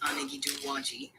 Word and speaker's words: Anigiduwagi: Now, the Anigiduwagi, pronounced Anigiduwagi, are one of the 7 clans of the Cherokee Nation.